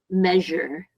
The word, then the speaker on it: measure: uh measure I think I heard you say measure like measure but um remember it's I know it's weird but it it has an sh sound measure so repeat after me